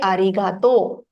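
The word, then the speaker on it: ありがとう: version so in short you can also say arigato welcome for thank you you say welcome no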